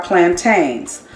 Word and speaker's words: plantains: to prepare today are plantains some cultures pronounce it as plantain but it is filled PLA in t AI NS plantains is the way we pronounce it they look like a